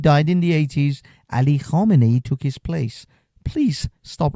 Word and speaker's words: Khamenei: Sir, please stop mispronouncing this man's name. His name is Ali Khamenei. You just saw a documentary. Khomeini died in the 80s. Ali Khamenei took his place.